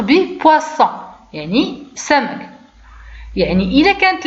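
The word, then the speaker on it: poisson: مثلا هنا لاحظوا اس جات ما بين حرفين صوتيين، يعني نورمالمون شنو خصني نقول؟ بوازون، ولكن انا بغيت نطق به دونك اس بغيت نطق به على شكل اس، دونك شنو خصني نقول؟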